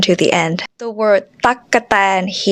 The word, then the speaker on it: ตั๊กแตน: it's not the case there are actually three syllables here and this is why because gokai here is linger syllable so we use gaukai twice even though it's written